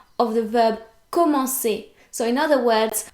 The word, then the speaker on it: commencer: But we want to retain the original pronunciation of the verb commencer. So in other words, we want the C to be pronounced like the S in the English word sister, right?